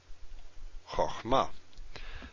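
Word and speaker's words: חכמה: Without the metheg, this is choch, chochma. This means wisdom. This is she is wise, this is wisdom. We've got three syllables, we've got two syllables. The metheg ensures that you pronounce this as its full value. If you don't have it, then you pronounce it differently.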